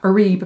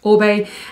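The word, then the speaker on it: Oribe: be a lot a lot of people say Arriba but it's actually pronounced obey and this is the feather bomb weightless styler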